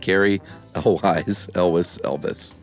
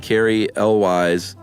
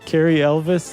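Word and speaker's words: Cary Elwes: sounds like Elvis, but what I meant to say was it rhymes with Elvis. Is that why you said Carrie Elvis, like on the...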